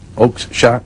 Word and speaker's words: Oakeshott: your favorite people, and I'm not sure I even pronounce it right, Michael Oakeshott? Is that right? Oakeshott, yes, Who you published a book of his and it only sold 600 copies.